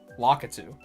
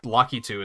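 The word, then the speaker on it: Lakitu: like in my mid-20s I thought it was lockitude and of course right away I was like well I guess lucky too is how you pronounce it in Japanese so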